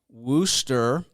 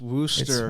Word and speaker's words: Worcester: us by way of Worster Worcester massachusett we've had this debate uh he says it's Worcester I I it's it's pronounced Worster Worster Mass Massachusetts so